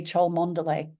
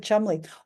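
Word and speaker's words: Cholmondeley: heard of this word you might say CH Monday guess how the English say it she's the marchess of chum right the speaking and the spelling of two different beasts they've gone completely differently March marchess of Chumley or what kind of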